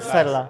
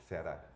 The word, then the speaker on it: Ceará: heard Serra. I never heard about state Serra. Ceará. I don't say it well. How do you say it? Ceará.